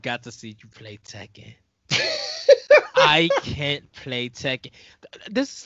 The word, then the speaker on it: Tekken: and speaking of teen another game that rhymes with tepen called Tekken I play that as well